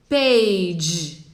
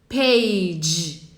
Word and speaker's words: page: Page. Page. Page. Percebe que não tem o I no final? Não é page. É page.